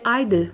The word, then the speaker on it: (G)I-DLE: Les fans devaient prononcer Idol sans dire le G.